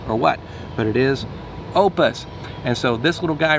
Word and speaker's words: OUPES: So it's pronounced OUPES. I had to ask because I didn't know if it was OUPES, or what, but it is OUPES.